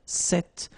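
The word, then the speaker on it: cette: So it's quite interesting because if you listen carefully the masculine form here set and the feminine form here set you write them differently but then you pronounce them the same way.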